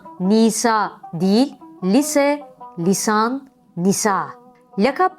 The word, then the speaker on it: lakap: değil lise lisan Nisa lakap kelimesi de yanlış söylenebilir lakabı gibi orada da iki sese kısadır la hecesi de incedir lakap aile lakabımız örneğindeki gibi sesleri uzun söylememek gerekir böğrek ve çörek deme